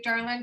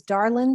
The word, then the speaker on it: Darlyn: us what you have my name is darling susan yee it's commonly mispronounced darlin and ye those two are the sticking points um i i